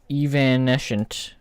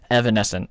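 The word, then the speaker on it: evanescent: I hope I'm I'm I think I actually got that pronunciation right. Evan. Hold on. Evan. Okay. Nope. Evanesscent. I was not even I was not even remotely close. Okay.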